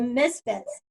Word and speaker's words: MSfits: You guys, how long is the Misfits? I'm saying MSfits because you're called Misfits, but it's spelled MSfits aptly.